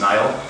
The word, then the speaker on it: Niall: Number 1, my name is actually pronounced Niall, like the river in Egypt.